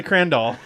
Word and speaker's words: Crandall: I keep saying Kelly Crandall. I think you got more ish from me, actually, than you actually did on everything. Twitter. It's like, it rhymes with candle.